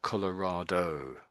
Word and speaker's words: Colorado: I'm I'm really pronouncing the O on the end as like a big O. I'm saying Colorado.